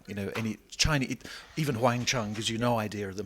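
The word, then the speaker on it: Huang Chung: started out of course your name was a little bit different phonetically uh huang chang right and uh that meant a yellow bell in uh mandarin or in chinese yeah the the idea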